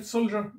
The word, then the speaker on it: soldier: وكلمة soldier بتتنطق soldier، soldier ما بتتنطقش soldier ولا soldier ولا soldier، لا soldier، تحس إن في حرف الجي لازقة في الدي، soldier soldier، جا جا حاجة زي كده soldier.